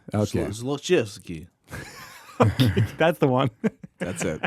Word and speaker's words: Zlochevsky: million that allegedly belonged to Burisma's owner, Mykola Zlokovetsky. Again, I have no idea. how to No, pronounce it's his pretty name. close. It's close, yeah. Zlochevsky. Okay. Zlochevsky.